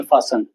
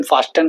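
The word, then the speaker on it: fasten: ऐसे ही silent T, लिसन, कैसल, फासन, लिसन इसे हम फास्टन बोलते हैं, ऐसे नहीं बोलते, फासन बोलते हैं इसे।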